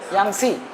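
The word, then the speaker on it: Yangtze: Nile के बाद Amazon second longest river Amazon के बाद यांगसी यांगसी अच्छा ये स्पेलिंग नहीं है तुमको बता दूं टी आता है यांग टी एस आई यांगसी लेकिन टी साइलेंट है यांगसी यांगसी के बाद मिसीसिपी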